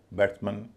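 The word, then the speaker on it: batsman: इसी तरह बैट्समैन, chairman, वॉचमैन, human, इन सब में MAN का उच्चारण मन होता है।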